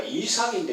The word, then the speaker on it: 이삭: 이 저하게 하나님, 목사님 주보 속지 보니까 이삭인데 왜 이삭이라고 했습니까? 할 때 히브리어로 어느 교수가 말하겠지 표현이 좀 그렇습니다만 가래 끓는 소리처럼 이삭 이것이 본래 발음이거든요.